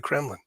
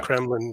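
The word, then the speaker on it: Кремль: They have five churches inside the Kremlin. And of course, yeah, Kremlin just means fortress.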